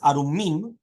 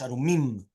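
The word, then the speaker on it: ערומים: Correct pronunciation of the words is Arumim with a dagesh. Yeah? With a dagesh. Arumim.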